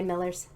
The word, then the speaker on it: Millers: histories channel thank you for joining me today millers all right thanks for having me appreciate it